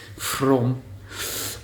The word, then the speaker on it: Frome: Yeah, so today we are in Frome, and that's spelled From with an E on the end. Frome.